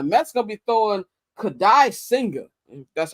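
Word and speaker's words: Kodai Senga: And the Mets going to be throwing Kadai Singer. That's how you pronounce his name.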